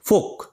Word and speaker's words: folk: FOLK, এলটা কিন্তু silent word, ঠিক আছে। ফোক মানে লোক।